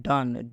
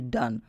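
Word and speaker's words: done: की सोम जैसे मैं डन डी ओ एन ई डन हम इसको डोन न पढ़ के डन पढ़ेंगे जैसे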